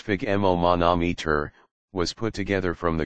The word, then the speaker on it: sphygmomanometer: The word spigmon monometer pronounced spigoman monometer was put together from